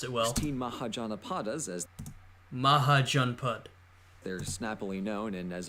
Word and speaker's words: Mahajanapadas: we have archaeological and written evidence for loose Mahajanapadas.